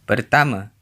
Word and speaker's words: pertama: Saya, meaning I, is pronounced, saya, and pertama, meaning first, is pronounced. pertama, City.